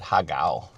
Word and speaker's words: Hacao: Prawn Haka. Well, we call it Haga. Okay. But they pronounced it Prawn Haka.